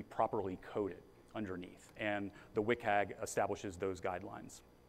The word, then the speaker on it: WCAG: So there are a set of common accessibility standards called the Web Content Accessibility Guidelines, or WCAG. That's how you pronounce WCAG.